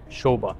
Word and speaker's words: Sobha: and a lot of marketing everywhere Sha Sha Sha even though it says soba it is pronounced Sha Sha is anonymous with quality right